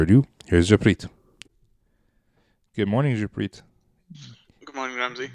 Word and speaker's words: Jappreet: Good morning, Jappreet. Good morning, Ramsey. Did I just say that wrong again? No, I Jappreet. think you said it right. Yeah, Jappreet, yeah.